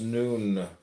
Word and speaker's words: Nun: None pronounced noon, transcribed as and the number 50, meaning fish, the imaginative intelligence.